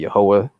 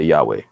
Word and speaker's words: Yahweh: the why agent WH which we pronounced you know various ways you know some of us say yahwah and some of us say Yahweh but that is what